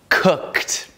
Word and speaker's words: cooked: final de verbos regulares perceba mais uma vez a pronúncia desses três verbos no passado cooked played watch eu não estou dizendo Cook ou ced nem played nem watched não é uma sílaba Extra maioria dos casos tá